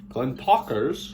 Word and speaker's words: Glentauchers: Glentauchers, more like talk, with a little roll in it.